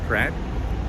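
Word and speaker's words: craic: there's an Irish word it's spelled c-r-a-i-c and they pronounce it crack and it means fun so if you're gonna have a bit of crack it means you're gonna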